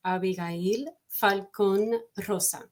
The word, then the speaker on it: Abigail Falcon-Rosa: said, oh, so is Abigail Falcon-Rosa the proper way you say your name? And she pretty much, cut me off at the knees saying, not even close, because obviously it's a Spanish name.